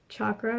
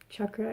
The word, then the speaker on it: chakra: So it's the first chakra, or chakra, I guess is how it's closer to the actual pronunciation, and it's the root one.